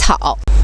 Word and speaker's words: 皮草: put a picture there 我们叫皮草 we call it 'picao' 所以是三种 so in total three kinds 第一种是棉服 the first is 'mianfu' second one像我现在穿的就是羽绒服 second one which I'm wearing is 'yurongfu' 最后一种就是皮草 the last one is 'picao' 好的说完了帽子围巾winter jacket finished hat scarf winter jacket 下面我们来说说裤子